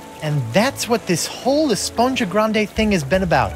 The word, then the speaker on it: Esponja: And that's what this whole Esponja Grande thing has been about, huh? Actually, it's pronounced Esponja with an H sound at the end. Really? But we've all been saying Esponja.